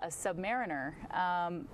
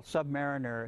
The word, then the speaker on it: submariner: that first of all Submariner is not a term we use that implies an inferior Mariner oh Submariner one who submarines now the Brits say Submariner so you're half right if we were doing this in London you'd be right on and I wouldn't say anything but a Submariner okay yeah I I